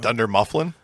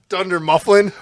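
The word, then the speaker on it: Dunder Mifflin: reference what was it thunder mufflin like I just what are you do just purposely mispronounce everything it's thund mlin you I've had a few beers Dunder mufflin what's Dunder what's Thunder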